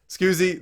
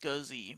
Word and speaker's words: Scuzzy: Scoozy, thanks for being the first listener to ever come on to Next Level Direct. It's There you supposed to go. be pronounced Scuzzy, by the way.